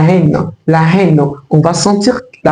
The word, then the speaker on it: haine: Il y a des mots, vous allez forcément entendre le H, par exemple avec la haine, la haine, la haine.